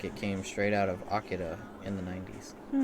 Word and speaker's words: Akira: Yeah, that's the Japanese way. That's how you'd hear it from a Japanese person, would be Akira.